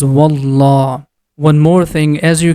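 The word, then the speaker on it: والله: When there is a Fatha or Dhamma before the name of Allah, that time we are going to pronounce letter Lam with heavy sound. The sound becomes Wallah.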